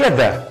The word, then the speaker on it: the: لكن في حاله مهمه جدا، لو ذا جه بعديها حرف متحرك لازم انطقها ذي، يعني لو جه بعديها اي اي او يو اي لازم اقول ذي.